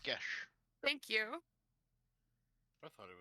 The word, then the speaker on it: geas: I said geese because it's spelled like C's. It's pronounced gesh.